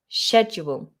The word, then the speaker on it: schedule: three items on my schedule now there are two ways to pronounce this you can do the american version which is more of a k sound sc schedule schedule and this is where